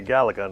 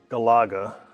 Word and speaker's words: Galaga: Other pronunciations: Galaga, I say Galaga, not Galaga.